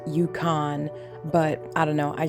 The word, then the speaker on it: Yukon: Also, in this video, you'll hear me say Ukan. I know it's pronounced Yukon, but I don't know.